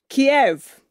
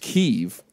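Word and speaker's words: Kyiv: I believe it's also pronounced Kiev. Might be Kiev. Yeah. Who knows? It's spelled K-Y-I-V.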